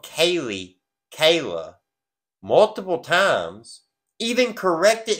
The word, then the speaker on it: Kaylee: names of the victims three times he said Kayla instead of Kaylee and then when he